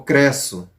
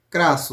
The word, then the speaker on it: Crasso: Ou Cresso. Crasso, na verdade, a pronúncia.